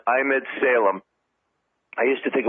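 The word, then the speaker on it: Emad Salem: it's AM ad and then si L AM pronounced I'm ed Salem I used to think it was a model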